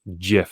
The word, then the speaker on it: GIF: off the rip that you pronounce it jif hard g yeah like the peanut